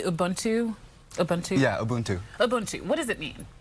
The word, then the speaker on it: Ubuntu: am I saying it correctly Ubuntu Ubuntu yeah Ubuntu Ubuntu what does it mean so uh auntu